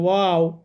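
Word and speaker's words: واو: আচ্ছা তাহলে এই হরফটা আমরা উচ্চারণ এভাবে করব। ও জবর ওয়া ওজের উই ওর উই ও একটু বাতাস বের হবে। ঠিক আছে। বা মত একটু সাউন্ড আসবে। কিন্তু বাতাসটা বের করে দিতে হবে।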